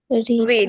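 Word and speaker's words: read: পড়তে পড়া ইংলিশ কি রিড রিড রিড রিডের verb two কি বলতো রিড রিডের ভার্ব টু রিড হবে রিডি কিন্তু উচ্চারণটা হবে রেড লাল লাল যে রেড বলে সেই রেড বানান কিন্তু উচ্চারণ হবে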